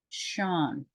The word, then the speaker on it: Sean: look at this name it looks like C but it's really pronounced Shan and we would we